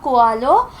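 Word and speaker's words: Coelho: The Alchemist by uh Paulo Colo that is how it is pronounced in Marathi so it is a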